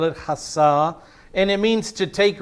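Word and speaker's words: חסה: a different word and this is the word hassa a c-h-a-s-a-h is how i would spell it hasah and it means to take refuge or to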